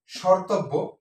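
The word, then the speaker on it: স্মর্তব্য: হয়েছে তথ তথ সঠিক শর্তব্য শর্তব্য হচ্ছে এখানে দন্তসের সাথে মফলা আছে কিন্তু উচ্চারিত হয়েছে স এর মত এবং এখানে মফার ম এর উচ্চারণ নেই সর সর এখানে নাসি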